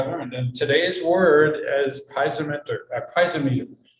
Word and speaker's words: piezometer: for introducing that term but it's piezometer is a is the pronunciation um and that is